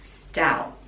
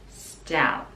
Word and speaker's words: stout: really pronounce and stout the last t we can pronounce it stout or again stop the tongue at the top of the mouth stout stout short and stout so